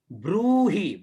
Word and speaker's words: ब्रूहि: यन्न कस्य चिदाख्यातम तन्मे ब्रूहि, ब्रू दीर्घ है, रे की मात्रा है, ब्रूहि पितामह, ठीक है।